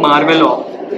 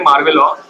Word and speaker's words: merveilleux: इसको बोलते हैं मार्वेलॉ, स्पेलिंग थोड़ी अलग है, IMERVEILLEUX, एंड में एक्स है, बट इसको प्रोनाउंस करते हैं मार्वेलॉ।